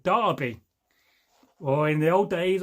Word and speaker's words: Derby: People don't understand how Americans will say Derby, but we pronounce it Derby.